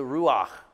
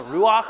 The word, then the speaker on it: ruach: pronounce it R it's if you can gargle in the back of your throat you can say that word yeah that's what the